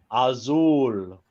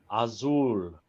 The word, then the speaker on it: Asyl: not it's Azul Azul it's actually the the German pronunciation of of a no